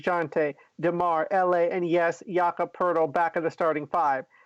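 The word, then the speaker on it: Jakob Poeltl: next to Jay Jonte damar LA and yes yokka Pirtle back of the starting five there's i you say his name right it's block of Pirtle he he was starting five the Spurs are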